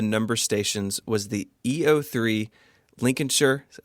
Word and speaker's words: Lincolnshire: The best known of the number stations was the EO3 Lincolnshire, I said it right, Lincolnshire Poacher.